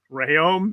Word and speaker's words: Rayom: again i must say again rayom is the correct pronunciation and then pao dwyer